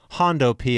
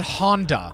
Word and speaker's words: hundo P: Not Hondo P. Hondo. You said Honda. It like is a not, Honda Accord. Sorry, Hondo P.